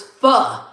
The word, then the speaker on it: pho: It's pho.